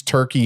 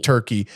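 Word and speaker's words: Türkiye: I more so liked Kusadasi, which is part of Turkey. And if now they changed Turkey to Turkey. That's how you pronounce Turkey now.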